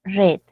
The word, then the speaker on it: read: es exactamente lo mismo pero qué cosa varía la pronunciación en presente es re en pasado es red Okay es un mucho